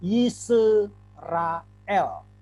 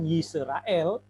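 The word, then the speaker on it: ישראל: dan ada lame Hai kalau kita tidak memperhatikan kaidah sewa maka kita akan bacanya nih isu rael Hai tapi bukan yisrael saya tidak buat transliterasi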